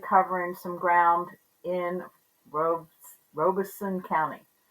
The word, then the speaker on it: Robeson: some ground in Rob Robison County I don't know why I find it so hard to say that word I want to make it Robertson or Robinson but it's Robison honey I just like to